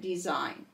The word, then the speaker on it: design: The G is silent and we only hear the N, as in gnat, sign, and design.